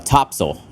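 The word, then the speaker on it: Topsail Island: in a on an island called uh um uh topsil tops it's spelled top sale Island okay somebody just told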